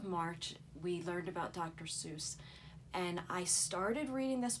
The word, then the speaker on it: Seuss: Seuss his name is Theodore Seuss but in Germany it was pronounced sois Geisel he changed his name to dr. Seuss he was pronouncing it sighs but in America everyone pronounced it Seuss it was ok with that because to him it rhymed with Goose for mother Goose and he used the